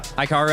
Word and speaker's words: Hikaru: I saw Hikaru, is that how you say it? Yeah. Hikaru, I saw him pawn to E4 sacrifice.